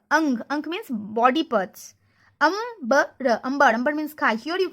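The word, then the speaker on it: अंबर: Ambar. Ambar means sky. Here you can see that pronunciation is but here these 3 pronounced like ang. Okay, here sound is ambar, not angvar.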